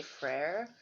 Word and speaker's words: Freyr: gods i don't like i like to say fray because then it's less confusing people think i'm saying freya when i say freyr because i'm probably saying it wrong um so anyway um